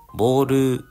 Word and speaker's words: Bow: ですえ某え BO W と書いてボというね名前のジャグラーでえ